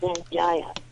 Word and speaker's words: Sanjaya: How do you pronounce it? Oh, no, I can't. That's Satan for you new fans. Sanjaya.